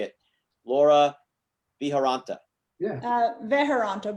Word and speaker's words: Veharanta: Veharanta, but it's close enough. Like people, it really is just how it looks, but people see it and it looks intimidating with lots of letters.